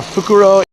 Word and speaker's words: fukuro: show you yeah uh fukuro is bag and fukurou with an extra u at the end is owl so this was uh